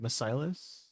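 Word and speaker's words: Macilus: It was like I know that's how you pronounce it. Misilus.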